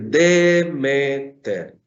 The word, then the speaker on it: Demeter: Entonces, mientras en madre yo digo meter, aquí tenemos otra sílaba antes. Entonces yo tengo que decir Demeter. Demeter sería el vocativo.